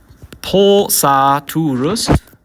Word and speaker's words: pulsaturus: So if I said pulsaturus, I need a long U there.